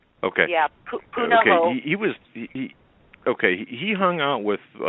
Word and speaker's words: Punahou: Because we know that when he was going to high school, I'm not sure how to pronounce that. Punahou. Punahou. Okay. Yeah, Punahou.